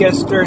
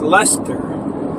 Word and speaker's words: Leicester: what they're looking for and they would say like Esther Square and you'd say oh that's pronounced Lester now you wouldn't like correct them you would just say oh yeah you mean Leicester Square and you wouldn't I'm